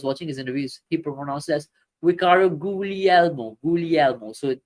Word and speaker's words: Guglielmo: his interviews he performed usually Elmo so the g is silent this way it's not googly Elmo is Ricardo ghoulial uh